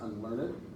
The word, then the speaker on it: unlearned: Unlearned, notice there's that accent, it's not unlearned, it's unlearned. That's how Shakespeare wanted that to be pronounced and how he would pronounce it.